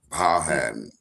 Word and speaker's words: Powhatan: So for locals in Baltimore, that would be Powhatan. Powhatan. That's how it's pronounced here. And everywhere I'm sure it's somewhere different.